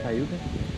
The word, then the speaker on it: Cayuga: Is that how you pronounce it? Cayuga?